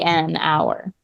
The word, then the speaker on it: hour: if that consonant is silent in our H is silent so you're still making two vowel sounds so you would do an a an hour instead of hour yeah but see it's not